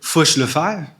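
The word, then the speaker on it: Fourche La Fave: Who's ever driven past Fushlave River? So the key sometimes is to pronounce these words like this man who uh after whom it's named would have pronounced it.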